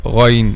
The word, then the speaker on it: غ: And you see this is letter Ghayn here. So letter Ghayn is one of the heavy Arabic letters. So all these letters, when you pronounce them, the back of the tongue should be raised.